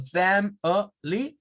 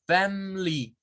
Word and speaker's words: family: Significa que hay personas que los pronuncian como family, 3 sílabas, family, y hay personas que la pronuncian sin el schwa, como family, sin el schwa.